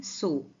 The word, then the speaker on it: sew: सिलते थे को इंग्लिश में कहते हैं सो। सो SEW इसका स्पेलिंग है लेकिन प्रोनाउंसिएशन होगा सो।